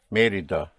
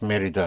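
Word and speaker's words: Mérida: M E and you have an accent over the E because it's Merida. Without the accent, it would be Merida. But it is not Merida but Merida.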